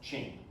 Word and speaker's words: Qing: That's how you pronounce that, Qing.